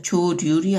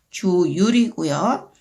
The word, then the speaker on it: 조율: 그런데 앞에 받침이 없는 것과 글자가 있을 때는요. 율로 발음이 나요. 그래서 조률이 아니고 조율이고요.